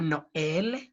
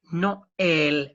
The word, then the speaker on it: Noël: So the 2 dots, tréma, indicate that you should sound each vowel separately. For example, we say Noël, Noël for Christmas, and I, that is actually an exclamation kind of pronunciation.